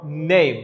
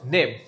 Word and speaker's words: name: এর কোনো আসলে কোনো কাজ নেই, এটা এখানে সাইলেন্ট থাকে, এই জন্য আমরা এটাকে বলতে হবে নেম, ইটস নট নেম। What's your name, not name.